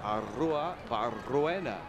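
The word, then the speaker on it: Arruebarrena: Barbaro Arrua Barruena. He will force you to roll your R's.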